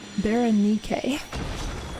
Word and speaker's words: Berenike: that is, I think, Berenike is how you say it. But it is often spelled as like E-R-N-I-C-E, but it is pronounced with a K.